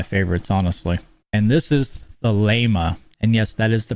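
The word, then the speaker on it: Thelema: pronounce it very simple the Lama not thalima it's the Lama the Lama originating from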